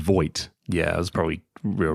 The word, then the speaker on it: Vogt: You said Voight.